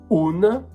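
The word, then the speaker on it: un': And the fourth one, un apostrophe, pronounced un, is used in front of feminine nouns or words starting with a vowel.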